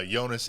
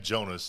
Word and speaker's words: Jonas: I've heard him say it, uh, Yonas and Jonas both ways in multiple interviews.